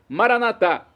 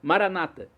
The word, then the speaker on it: Maranata: tônica na última sílaba Maranata ou como dizem nossos irmãos separados os protestantes ou evangélicos com a tônica na penúltima sílaba Maranata não importa a pronúncia